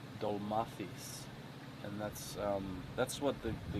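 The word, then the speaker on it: ντολμάδες: It's called a Dolmarty? Yeah. It's actually pronounced Dolmathis, and that's what the like.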